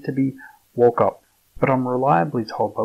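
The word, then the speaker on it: Wauchope: in 1949, claims the town name to be Walkup, but I'm reliably told by Wikipedia it is pronounced Warhope.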